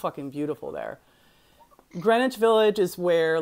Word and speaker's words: Greenwich: to think I used to think it was Greenwich um well I mean people pronounce it both but uh but I say yeah I say Greenwich I'm pretty sure it's Greenwich yes it is yes so so Washington Square